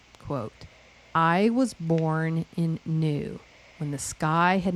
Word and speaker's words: Nu: The ancient Egyptians personified the primordial waters in the deity new and it's spelled nu which means watery one or noon.